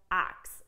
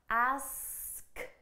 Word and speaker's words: ask: need to fix this the important thing that we need to do for ask to pronounce this correctly is to get that that S sound ask okay now here's the thing in ax ax there is a slight S sound but it comes at